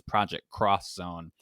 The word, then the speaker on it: Project X Zone: Like, there's a video game series that was on the 3DS where it reads as Project X Zone, but it's Project Cross Zone because it's a bunch